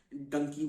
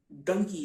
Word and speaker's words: डंकी: का प्रोसेस होता है जिसे डोंकी कहा जाता है और डंकी प्रोनाउंस किया जाता है उसको सिर्फ 15 20